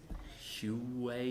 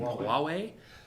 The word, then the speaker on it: Huawei: amazon the aws branch hugh way here however thank you i never knew how to pronounce that thing huawei huawei and i'm missing some